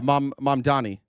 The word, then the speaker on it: Mamdani: Yeah, Mamdani.